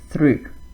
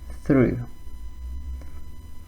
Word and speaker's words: through: How do we pronounce this? Through. I hope you got it correct. Through.